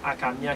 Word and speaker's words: Hakamiah: Que génie que nous avons porté pour là, c'est le 6e génie qui c'est Akamia qui s'écrit H-A-K-A-M-I-A-H.